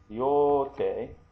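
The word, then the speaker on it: 両手: Ryote, and this is a long O here.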